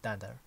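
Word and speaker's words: dunder: Modules and methods with two underscores are easier and are pronounced dander.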